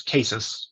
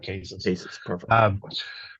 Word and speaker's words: CASIS: correct you but it's cases uh sorry an acronym Center Finance in the science in space so there is actually no correct pronunciation but in the house here we we call it cases so uh the International